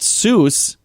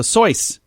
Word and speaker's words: Seuss: it's not really pronounced seuss it's pronounced it's supposed to rhyme with voice so soys dr seuss geisel yeah